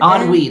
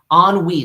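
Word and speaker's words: ennui: in NN you y on on WE that's how it's pronounced yeah e n n u y UI u i yeah on WE that's how you pronounce it what is that it's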